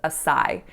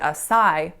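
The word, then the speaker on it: açaí: However, I found articles in which people say, oh, people pronounce it Acai, but it should be pronounced acai.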